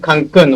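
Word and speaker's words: Cancún: By the way, uh the pronunciation for the word Cancun, which is the name of this village, is with accent here. There is an accent mark.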